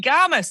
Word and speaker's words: Garmus: my absolute over-excited fangirl pleasure to introduce bonnie gamers have i pronounced your surname writing comment to check just